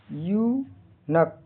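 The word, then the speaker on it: eunuch: जैसे ई यू एन यू सी एच का उच्चारण प्रोनाउंसिएशन यू नक। यहां इ यू का उच्चारण यू होता है। एन यू सी एच का उच्चारण न क हल्का क होता है। यहां सी एच आखिर का सी एच यहां क की ध्वनि देता है।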